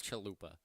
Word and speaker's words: chalupa: Roopa that's you're not matter Roopa it's chalupa I can't pronounce the